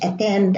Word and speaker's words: attend: attraction and here again some air Judas Davis pronounce the words attend attendance attachment attempt all these words regardless of